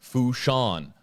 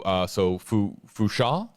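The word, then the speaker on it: Fourchon: Hashtag AJB, it's Fushan with a silent N there. So Fusha, Alabama.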